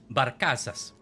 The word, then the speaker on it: Barcazas: There are two companies, the Chilean Barcazas. I know that's not how you say it, but I don't know how to say it. But I can't roll my R's. We do it right? Barcazas. Thank you.